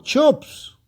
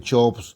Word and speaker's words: Cheops: Los antiguos griegos, al usar el nombre de Cheops, pronunciaban las letras CH casi como si fueran una H.